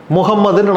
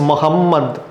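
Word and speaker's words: محمد: முகமதுன்னு நான் தமிழ்ல சொல்றேன். ஆனா ஆக்சுவல் நேம் இஸ் முஹம்மத் எவ்வளவு வித்தியாசம் இருக்கு பாருங்க. இங்க முகமதுன்னு முடியுது. அங்க முகமது அப்படின்னு வருது. ரெண்டாவது இம் வந்து அடுக்கு வரும். ரெண்டு இம் போட்டீங்கன்னா எப்படி அதை உச்சரிப்பீங்களோ, அரபிக்ல அப்படித்தான் நீங்க அதை உச்சரிக்க முடியும். தமிழ்ல அப்படி ஒரு சவுண்டே அந்த நேமுக்கு கிடையாது. முகமது இந்த ரெண்டு பேரும் இப்ப ஒண்ணான்னு கேட்டா ரெண்டு பேரும் ஒன்னுதான். இந்த மொழியில அந்த சவுண்ட் இல்ல.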